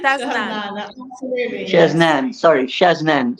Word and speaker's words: Shaznane: Her name is, hopefully I pronounce it correctly, is Shazan. Am I right? Shaznane. Shaznane, absolutely, yes.